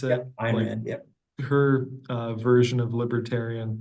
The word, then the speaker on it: Ayn Rand: It was brought up in a college Republicans meeting that Ayn Rand, I think that's how you pronounce it. Yep, Ayn Rand, yep.